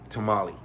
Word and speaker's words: tamal: chicken and mole uh tamale so I just say Tamal now you know what I'm talking about if you're an English speaker you learned a new word and it's even got less syllables so I made you